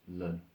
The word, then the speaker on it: ln: we write that is Ln you hear it pronounced learn so what that means